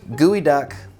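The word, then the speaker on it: geoduck: too in the episode it's apparently pronounced gooey duck I have a hard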